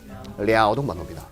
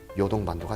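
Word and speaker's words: 랴오둥반도: 자, 이 튀어나온 못생긴 반도, 중국식 발음으로 무슨 오동반도? 랴오동반도입니다. 근데 한자식은 간단하게 나온 편입니다. 요동반도가 되겠습니다.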